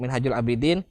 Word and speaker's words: Minhajul Abidin: Jadi dhammah itu bunyinya u ya. Tidak ada bunyinya o. Jadi harus diperhatikan lagi untuk Minhajul Abidin.